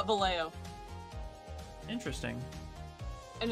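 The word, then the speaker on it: Vallejo: American would it would be valo if you're pronouncing it like it would be in Spanish it would be vjo what but no they call it valo interesting and it's not Valle ho it's valo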